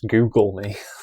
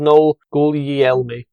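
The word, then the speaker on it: Gugliemi: I don't know, but I want to read it as Google me. Exactly. He's called Noel Guglielmi.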